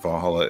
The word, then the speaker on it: VA-11 Hall-A: Okay, but it's very important that Valhalla is spelled VA-11 HALL-A.